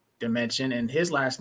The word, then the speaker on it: Damencion: a family name and the way I help people pronounce my name is like this um I Come From Another Dimension or think of it as that math word dimension I like that that